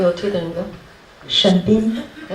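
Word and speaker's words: 沈斌: 네 이름은 신빈인데 신빈은 중국어로 발음이 어떻게 되는 거야? 沈斌。 네? 沈斌。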